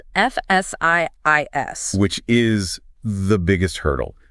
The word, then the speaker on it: Fsiis: Fsiis makes sense. But the rule they outline is incredibly specific. It dictates that the name should sound exactly like the English phrase F-siis, but with the howl completely removed.